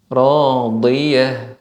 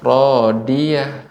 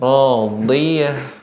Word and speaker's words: راضية: Untuk catatannya Bu ya, untuk huruf dot ya, ini pengucapannya tidak dengan ujung lidah. Kalau ujung lidah maka suaranya akan lebih bulat. Radiyah. Nah, ini kurang tepat, tapi menggunakan tepi lidah bagian samping kanan kiri yang bagian belakang ya, bertemu dengan gigi geraham.